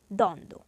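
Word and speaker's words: দ্বন্দ্ব: দ এর উপর একটু অতিরিক্ত উৎসব পড়বে এর উচ্চারণ হবে দ্বন্দ এরপরে দেখো শব্দের মধ্যে বা শেষে ব ফলা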